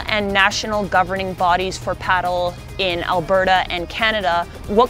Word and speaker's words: padel: if you call it paddle which is the proper pronunciation or the Spanish pronunciation some people get it